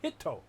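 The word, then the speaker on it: ヒット: name is Topo well the way the character hit is pronounced in the Japanese is hito yeah so when they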